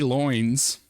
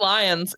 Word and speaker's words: Lyons: So Katie Loins, a research scientist at the Georgia. It's just lions. It's lions. Dude. I'm gonna pronounce. It's lions, but loins for comedic purposes. It's lions though.